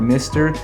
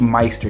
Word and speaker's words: MSTR: We hear some people pronounce it as Meister or Mister. It is indeed Meister, guys.